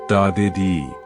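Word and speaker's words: dadirri: They speak of diri pronounced dedi.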